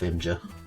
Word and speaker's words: Imgur: Imgur, the image site, which is pronounced Imgur because it doesn't have an I in it. Or at least it has an I at the beginning, but not in the middle of it, where everyone puts it.